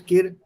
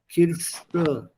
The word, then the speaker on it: Kirsche: The other one is Kirsche. Kirsche. Die Kirsche. You add an S, the pronunciation changes, and it changes in meaning.